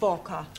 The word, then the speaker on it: Walker: Walker. Walker. What? W is pronounced W.